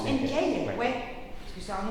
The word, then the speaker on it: Enkei: Genre Enkei, c'est comme ça qu'on prononce Enkei, ouais.